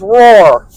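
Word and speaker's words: Roher: or an anniversary and Bonnie's last name was roar r-o-h-e-r I couldn't remember how to pronounce it thank you Bonnie it's Roar her anniversary was the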